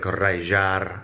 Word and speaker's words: rallar: The double L in the middle of rallar is pronounced like a Y sound in English, or if you're Argentinian or something, it would be more like rallar.